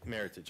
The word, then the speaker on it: Meritage: and this is the Meritage and Cabernet Merlot blends award pronunciation rhymes with heritage it's funny because that's I learned that right away it's it's it's Meritage okay Michael Pascoe your